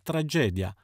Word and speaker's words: tragedia: bambino zerbino lavoro latte attenzione anche alle famose commedia e tragedia sono entrambe parole piane dunque accento sulla penultima sillaba e nessuna j alla fine sdrucciole e b sdrucciole